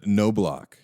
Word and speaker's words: Knoblauch: Uh, Nolock is the like American pronunciation.